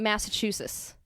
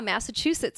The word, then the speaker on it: Massachusetts: And I was like, yeah, Massachusetts. And she was like, I'm sorry, what? And then I was like, yeah, Massachusetts. And she was like, Chusets. There's like, you got to pronounce the T's.